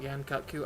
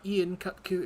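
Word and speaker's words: Yian Kut-Ku: It is not Ian Kutku, it is Yan Kutku, and I will hear no arguments.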